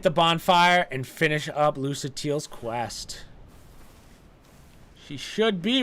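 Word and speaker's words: Lucatiel: yeah my name is Luca teal well let's see how she pronounces it my name is lucatelia okay so basically the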